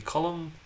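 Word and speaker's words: Colm: context uh like um it can be column uh that's um the nominative case if somebody was just saying hey column like they would say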